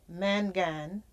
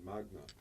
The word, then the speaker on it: magna: And he's had he's a Mangan. Is that how you pronounce it? Mangan cum laude? It's Latin, so it's actually magna.